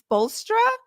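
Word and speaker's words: Spoelstra: Eric's how do you say his last name spola correct whoa whoa whoa whoa the first time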